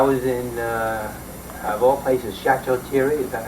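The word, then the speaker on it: Château-Thierry: I was in, of all places, Chateau Thierry. Is that how you pronounce it? Chateau, Yeah, wow. Chateau Thierry.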